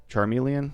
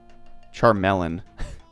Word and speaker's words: Charmeleon: shots in to realize what I did I pronounced it charm Charmeleon like watermelon oh charm melon okay charm melon Fair War turtle is a